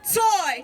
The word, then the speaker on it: Tsui: That's Tsui, pronounced Toy.